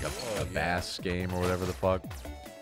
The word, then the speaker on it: Bass: Is it Bass or Bass? I mean, I'm thinking music. I'm sure. It's like if his dog is named Treble, then Rock his name Man is Bass. Oh, what the? Pronounced Bass. I like, don't know. Music. Like, I don't know if they're all, yeah, rock and roll, so he's probably just Bass.